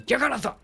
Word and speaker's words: Jagannatha: It's going to be on Yaganatha. That's the way to pronounce it. You throw your hands up in the air forcefully and say Yaganatha. Jagannatha?